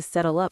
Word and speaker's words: settle up: The L sound flows right into the U.